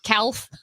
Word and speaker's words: calf: Calf. A baby cow is a calf. Calf is another one. A silent L.